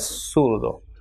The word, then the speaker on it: zurdo: pronounced as sumo, and ZURDO will be pronounced as surdo.